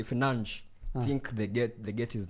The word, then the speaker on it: Fernandes: Bruno said that people who say Financh think they get his name right. He's It's not? annoyed. It's not? Yeah, it's Financh, but there's a way they say it in Portuguese.